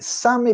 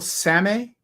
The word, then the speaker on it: Sami: Here we have the Sami people, which are the only indigenous people in Europe.